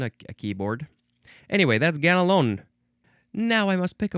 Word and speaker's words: Ganelon: It is ganalon. Now, you don't really say the n so much. Ganalon.